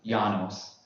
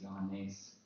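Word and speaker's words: Ἰωάννης: Janos in Greek. Yeah. Voila. Like I said, my Greek. It's Ioannis.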